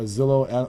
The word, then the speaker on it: Zillow: Rhymes with Willow. Don't go there. Go to this site because this will give you the real McCoy. The real. And as a matter of fact, it'll pull a Zillow algorithm.